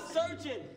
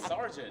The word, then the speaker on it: sergeant: You are a surgeon. Duke Dennis is a surgeon. You're saying it wrong. Say sergeant.